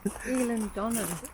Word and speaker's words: Eilean Donan: And how do you pronounce the castle again? Eilean Donan.